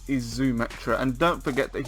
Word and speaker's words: Xumetra: Xumetra is in the same way that Xena the Warrior Princess is pronounced, so that's what they're going to go for, Xumetra.